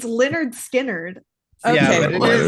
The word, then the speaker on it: Lynyrd Skynyrd: It's Leonard Skinnerd. Okay. Yeah, but it Leonard. is spelt like Lynard, if we're being honest.